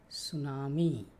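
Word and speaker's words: tsunami: तो इससे होता है सुनामी सुनामी की स्पेलिंग ध्यान से रखना टी एस यू एन ए एम आई इसमें टी जो है ना वो साइलेंट है थर्ड रॉक्स एंड लूज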